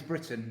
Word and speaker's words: Britton: from Italy so ironically my name is Britain but here in Italy they pronounce it Brighton so myself I just